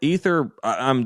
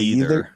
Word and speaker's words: ether: It's probably just it's ether. This is just I know nothing about this. Wait, ether, yeah. Was I saying it wrong? You're saying what did I say? Either? Yeah. Okay. You said either.